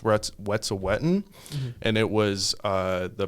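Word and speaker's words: Wet'suwet'en: a fundraiser for um i think it's pronounced what's a wetton and it was uh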